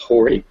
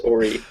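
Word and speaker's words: Horry: these other three are from um Orie County which is h o r r y um usually improperly pronounced Hy um which is it's rude there could be some areas that are Hy but um but pronounce Orie but anyway um I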